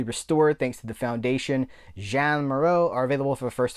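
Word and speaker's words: Jeanne Moreau: So if it was like Jean-Claude Van Damme is Jean, the feminine is Jeanne. So I'm going to go with that. Jean Maro.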